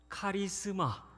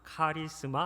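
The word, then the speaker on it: χάρισμα: 카리스마. 네, 잘 아시는 익숙한 단어이실 것입니다. 카리스마 한 번 더 하겠습니다.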